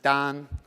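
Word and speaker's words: 丹: term for alchemy is this character pronounced dong it means cinnabar is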